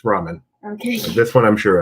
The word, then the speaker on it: ramen: I pronounce it Raymond. It's ramen.